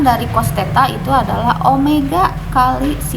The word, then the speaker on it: omega: penampangnya ini hai oh ini Omega bukan Wiyadi bacanya ini Omega Omega itu kecepatan sudut